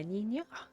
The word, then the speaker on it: niño: Yeah, Niño. Once it's spelled out, like quite literally, I try.